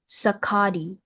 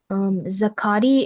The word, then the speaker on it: zacate: Your word is zakati, sakati.